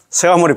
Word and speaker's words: 석가모니: 서가모니 부처님이다이 말이래 그지? 자 3. 우리의 본사 스가모니 부처님. 자, 석가모니불 이렇게 석가모니불 석가모니 이렇게 돼 있지만 또 발음은 서가모니라고 하고 추근 끝에 나무 서가모니 불을 놓아는 우리의 본사를 찾는다.